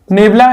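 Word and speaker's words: nabla: इसको आप नेबला बोलेंगे, ठीक है ना, प्रोनाउंसिएशन इसका नेबला होगा। और ये कहलाएगा थर्ड बैकवर्ड डिफरेंस।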